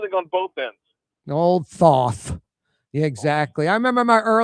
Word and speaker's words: Thoth: It's pronounced Thoth. Is it now? No. No, it's I actually had somebody along the route call it Toth. I was like, that doesn't make any sense.